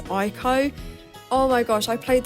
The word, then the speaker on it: Ico: So I'm pretty sure this game's pronounced Eco, but I've always said it as Ico.